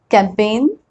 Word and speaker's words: campaign: When G comes before N, many times we don't pronounce that G.